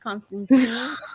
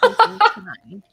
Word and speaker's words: Constantine: It's not pronounced Constantine. Constantine.